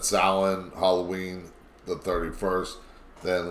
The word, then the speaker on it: Samhain: And there's the pronunciation, just so that way if you need to know how to pronounce it, that's how you pronounce it.